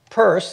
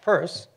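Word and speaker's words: Peirce: of the astronomical journal purse and it really is pronounced purse was a major figure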